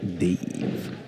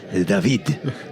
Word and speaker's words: David: My name's not Dave. Davey. It's David.